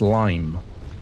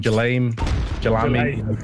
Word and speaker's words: Lime: I was calling him Jalami, all over the place until Vendetta was like, "It's Lime, Vince. It's Lime."